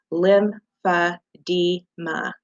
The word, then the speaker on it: lymphedema: go on to defining lymphedema and it is spelled lim fa di ma lymphedema is a is